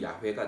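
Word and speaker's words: 야훼: 데이 아베 든 뭐 원래 발음이 야외가 더 정확하지만 어쨌든 그 야외에 나를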